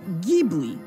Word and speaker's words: Ghibli: but here's the thing in the original Italian word I is pronounced with a hard G being Ghibli but in technically it's